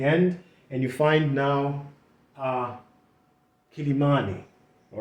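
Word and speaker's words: Quelimane: Now, the local people actually pronounce that name as Kilimani, okay? But when you saw it from the old map, which was with a K, people could read that in English as Kilimani or something like that. Okay, but the local people pronounce that as Kilimani.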